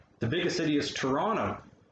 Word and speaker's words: Toronto: the biggest city is toronto there's a first t sound on that one but not the second one toronto um it does affect